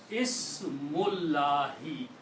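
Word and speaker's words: بسم الله: If we read them combined, it will be Ismullahi, name of Allah. Okay. We do not pronounce this alif here. Okay. So it becomes Ismullahi. Ismullahi is the correct word.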